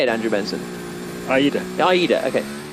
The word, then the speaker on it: Aida: Aida.